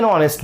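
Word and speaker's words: honest: তিনি সতলক ছিলেন হি ওয়াজ অনেস্ট ম্যান। অতীতকাল ছিলেন অতীতের কথা বলা হয়েছে। তিনি এখন আর হয়তো বেঁচে নাই বা নাই কোনভাবে। ওয়াজ অনেস্ট ম্যান। কেন? কারণ অনেস্ট। এইচ এর উচ্চারণ ভাওয়েল ও এর মত দিতেছে এ আই ও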